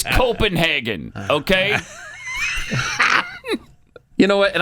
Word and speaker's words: Copenhagen: And it's not Copenhogen. It's Copenhagen.